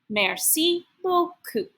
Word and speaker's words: merci beaucoup: The pronunciation guide says to read it, merci beaucoup.